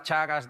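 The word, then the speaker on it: Teagasc: Perdona que pronuncie Chagas, se escribe Tiagas, pero se me ha borrado ya esa parte de la cabeza a mí.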